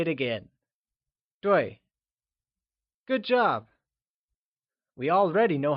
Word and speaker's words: 对: 对 is pronounced using a falling tone, like 对. Let's try and say it again. 对.